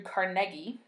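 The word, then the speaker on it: Carnegie: the name of Andrew carnegi which is actually how you pronounce his name uh if you're going to to say it so properly like a Scottish person might um he was kind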